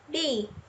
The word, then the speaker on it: 日: The final character, he, here pronounced bi, means sun or day.